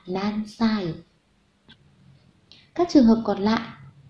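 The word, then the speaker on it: 何: Ví dụ, Teresa chẳng qua nan sai desu ka? Thì sai là hậu tố chỉ cách đếm tuổi, cho nên chúng ta không được nói là nani sai, mà phải nói là nan sai.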